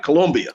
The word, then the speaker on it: Colombia: I'm gonna say it right, Colombia.